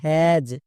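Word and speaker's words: has: আছে তার মানে এইচ এইচ এর জন্য হ এবং এর পরে পরে এস থাকলে এ এস এর জন্য এজ এখনি দেখে আসলাম তাহলে হো প্লাস এজ কি হবে হ্যাজ একে আমরা ভুল করেও হ্যাস উচ্চারণ করতে পারবো না নেক্সট এক্সামপল ডব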